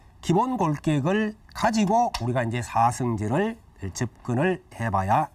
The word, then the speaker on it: 사성제: 그러나 이제 우리가 보통 진리다라고 할 때는 체라고 하지 않고 제라고 발음을 하죠. 사성제.